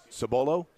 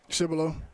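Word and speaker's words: Cibolo: Sabolo. Cibilo. Cibilo. I was close.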